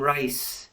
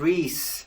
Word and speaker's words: Rhys: They called him Rice and Rye and Rise. It's pronounced Rhys, Rhys kept telling them.